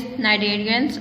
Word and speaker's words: cnidarian: Invertebrates are divided into 6 classes: arthropods, worms, mollusks, sponges, cnidarians and echinoderms. In cnidarian, C is silent.